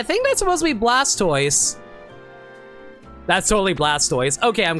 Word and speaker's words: Blastoise: Isn't it funny how everyone just agrees it's pronounced Blastoise and not Blastus because that's how Tortoise is pronounced?